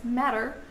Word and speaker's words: matter: Even though it's written with a double T in the middle, in English you mostly pronounce it as matter or even ma, as